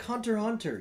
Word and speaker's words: Hunter x Hunter: Well, It's like Hunter x Hunter. You don't pronounce the X.